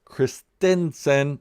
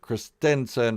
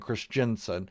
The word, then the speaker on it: Christensen: suicide making Hayden Christensen Christensen that's the way you pronounce it Christensen for all you YouTubers who keep saying Chris Jensen is Chris Stinson any